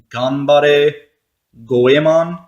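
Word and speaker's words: Ganbare Goemon: this is a mystical ninja 4 but it's pronounced combate goemon so it's combat I going on for we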